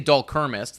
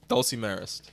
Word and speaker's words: dulcimerist: I say Dulcermist. That's not his name. It'd be like a Dulcermist. Dulcimerist? Dulcimerist. There you go.